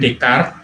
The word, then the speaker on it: Descartes: Ini merujuk ke pemikiran René Descartes ya. Descartes bacanya Descartes ya.